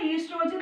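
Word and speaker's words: oestrogen: So O is silent, you have to say it as a estrogen and progesterone.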